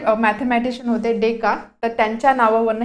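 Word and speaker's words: Descartes: नाव होतं ठीक आहे याचं प्रोनाउन्सिएशन आहे deck कार्ट deck card but याचा स्पेलिंग आहे असं तर यामधलं हे जे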